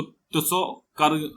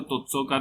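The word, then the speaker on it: Tso Kar: ठीक है, इसको बहुत ही, इसमें टी जो है वो साइलेंट है, इसको तुत्सो-कर आर्द्रभूमि क्षेत्र में शामिल है।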